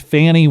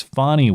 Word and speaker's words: Fani: It's not Fannie Willis. It's Fani Willis.